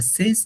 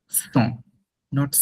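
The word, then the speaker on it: cent: ক্যাথোস, ক্যাথভা Cannes, ক্যাথভা সেস, ক্যাথভা দিসেট, লম্বা অনেক অনেক লম্বা। ক্যাথভা দিস উইথ, ক্যাথভা দিস নফ। 100টাকে বলে সং। It sounds like সং, সং, নট সেন্ট, নট সেন্ট, ইটস সং, সং।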